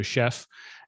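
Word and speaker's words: Shef: and the third one is called chef but it's spelled as s-h-e-f so chef and these uh this website and service is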